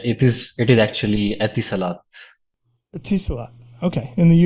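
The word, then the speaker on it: Etisalat: engineer in test uh geez how do you pronounce the the company namea uh yeah it is it is actually atis Salat a Salat okay in the UAE yeah very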